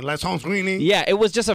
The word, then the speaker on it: Alessandrini: He actually doesn't even pronounce the A. He's like, hello, this is Romain Alessandrini.